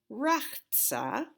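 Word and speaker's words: ורחץ: Now, I will tell you that as I've lived in different places, people have pronounced this in different ways. I grew up saying Rachtsa, but I didn't know about the Kamatz Katan then.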